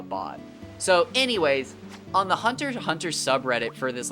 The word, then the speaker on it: Hunter x Hunter: So anyways, on the Hunter x Hunter subreddit for this like manga that I was really into, yeah. You don't pronounce the X.